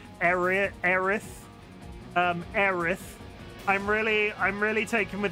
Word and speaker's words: Aerith: I am constantly impressed with how adorable they made Ares and I'm just gonna say Ares because that's how I grew up pronouncing their name. Aerith.